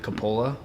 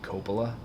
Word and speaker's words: Coppola: My family pronounces it Coppola. But the Italian pronunciation would be Coppola. Or Coppola.